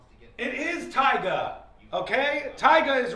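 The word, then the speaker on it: Tyga: It is Taigga.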